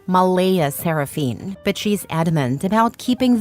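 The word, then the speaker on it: Mleigha Seraphynne: yes spelled exactly like that CLA insists it's pronounced Mala seraphine but she's adamant about keeping the creative spelling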